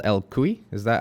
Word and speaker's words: cuy: So I think is guinea pig, it's called el cuy. Is that how it's pronounced? Sí, cuy, El el cuy.